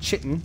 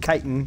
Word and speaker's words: chitin: have any Titan as I'm told it is pronounced not chitten like I've been pronouncing it but chitin rather I wonder where the I want I